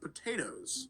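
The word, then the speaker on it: Pot8os: He is now best known for the unusual spelling of his name, pronounced potatoes.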